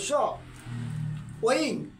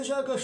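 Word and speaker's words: সৌঃ: এই ক্ষেত্রে হচ্ছে দন্ত সহকারে সৌ আছে অনেকে সৌ উচ্চারণ করতে পারে অসুবিধা কিছু নেই কিন্তু সৌহ দ্বন্দ সৌ বিসর্গ উচ্চারণ দিলে হ সৌহ শুনতে খুব ভালো লাগে দ্বন্দ সৌ বিসর্গ উচ্চারণটা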